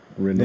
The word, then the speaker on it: Renault: Renault. Yeah, The Renault. T is silent.